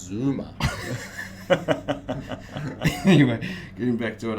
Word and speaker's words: Zuma: no we wouldn't talk about that this is pronounced zuma anyway getting back to what i was saying